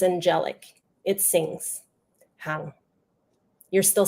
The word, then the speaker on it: Han: They say hang, like a wet towel on the back of a bathroom door. They don't know if I am male or female. Hang. It is harsh and jagged. That is not my name. It is pronounced softly, like hang, lighter than what you are hearing, like a gentle breeze on a lush summer night.